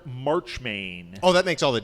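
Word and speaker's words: Marchmain: as stuffy Lord Oh I said his name wrong maybe that was why you didn't get it it's Lord March main oh that makes all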